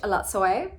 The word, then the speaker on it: Elatsoe: So I finished Elatsoe, that's how you say it.